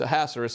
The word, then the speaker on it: Ahasuerus: son of Ahasuerus, well, I've heard that pronounced so many different ways. It's Ahasuerus is the way I say it. That sounds best to me.